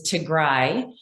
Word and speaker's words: Tigray: I just want to correct, the pronunciation is Tigray.